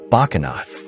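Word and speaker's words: Bocsánat: His typical catchphrase is to say "Boxanat," pronounced "Bakanat," the Hungarian word for sorry or excuse me, to everything said to him in English.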